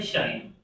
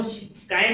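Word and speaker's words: scion: इसका जो प्रोनाउंसिएशन है वो स्काइ नहीं होता। शाइन होता है और शाइन जो मतलब एक तरह से सूरज की किरणें हैं।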